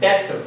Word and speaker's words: debt: So most of the people they pronounce D-E-B-T. So దీన్ని మనం pronounce చేయాల్సింది ఏంటంటే డెట్, D-E-T, డెట్. ఈ B అనేది సైలెంట్ లెటర్.